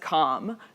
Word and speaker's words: comm: This is usually pronounced calm because it denotes communication between two parties.